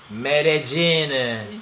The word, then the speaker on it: Medellín: Medellín. Medellín. Jean. Like jean that you wear.